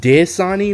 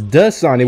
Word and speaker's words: Dasani: the funny part isn't it does Sahni not dis on e where's my phone this man got his whole name wrong I'm gonna look it up it's dust sunny weather today not dis